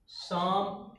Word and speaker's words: psalm: तो इस तरह से आप ये याद रखिए कि यदि किसी शब्द में यन और यस से पहले पी आया है तो वहाँ पर पी साइलेंट होता है। ठीक है, साइकोलॉजी, शाम, ठीक है, ये सब चीजें याद।